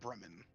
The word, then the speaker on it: Bremen: Bremen. Yes. Bremen. Like the Breman band.